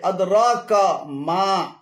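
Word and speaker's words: أدراك ما: এখানে আদরা এবং কামা উভয়টি ভুল উচ্চারণ। শুদ্ধ উচ্চারণ হবে আদরাকা মা, আদরাকা মা।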